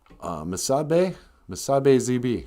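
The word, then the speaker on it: Misi-ziibi: But Misabe ZB.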